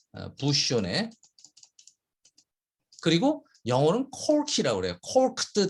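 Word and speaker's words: bouchonné: 이 부쇼네라고 하는 발음이에요. 부쇼네. 부쇼네.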